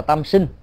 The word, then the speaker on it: tam sinh: Họ thường làm lễ cúng tam sên. Nếu đọc đúng âm á của người miền Bắc á thì gọi là tam sinh, đó là hiến tế,